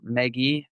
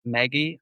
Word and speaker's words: Meggie: a new signing um I'm hoping I get this right megy DH Howard is that right I think so megie megie like uh megie is spelled me GG i e uh and then